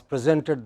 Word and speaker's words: present: to the teacher but in the same word is used as verb then it takes a stress on the final syllable we said the class presented the teacher a painting